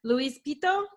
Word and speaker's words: Louis Pitto: I'm your host, Kim, and today I've got Adriano Balestrino, as I'm pronouncing that right? That's correct. Okay, and then Luis Pitto?